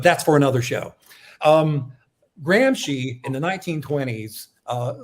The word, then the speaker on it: Gramsci: lot about jan uh gramps gramsci is how you say it he did not believe